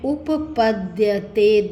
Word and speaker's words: उपपद्यते: अब ये देखिए, ये क्या है, द और यह मिला हुआ है, तो उच्चारण क्या किया हमने, उपपद्यते, द और यह।